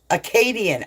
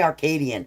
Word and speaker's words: Acadian: Am I saying R in Acadian? Oh, I've always said your name wrong. Are you finally done with me? Acadian, is that how I am? Why do I always say Arcadian?